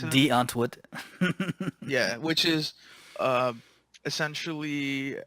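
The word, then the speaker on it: Die Antwoord: If you're not really sure what we're talking about, go check out De Antwoord, which is how That you're or supposed to pronounce it. D Antwoord.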